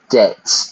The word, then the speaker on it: debt: The B is silent. Debts. To be in debt.